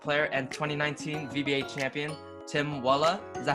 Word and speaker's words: Tim Waale: Today we're speaking with Danish-Vietnamese basketball player and 2019 VBA champion, Tim Waale. Is that how you pronounce it? Yeah, Tim Waale. Oh, correct pronunciation.